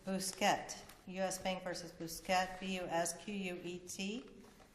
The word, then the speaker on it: Busquet: It's Busquet, U.S.